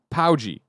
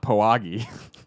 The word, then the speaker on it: Paugi: Wally says the developer you were mispronouncing, Greg, is Paugi, not Poagi.